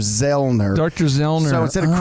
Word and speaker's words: Zoellner: If you go back to the German, the O's not pronounced, which is why I go by Dr. a lot, because everybody wants to call me Dr. Zoellner, and it's really Dr. Zellner.